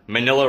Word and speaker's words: Manila: Manila rhymes with vanilla.